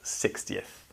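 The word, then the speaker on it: sixtieth: You don't pronounce the X very commonly in 6th, but you do pronounce the X in 60th.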